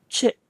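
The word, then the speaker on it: ချစ်: Chit is the main verb, to fall in love. One more time, it's pronounced chit.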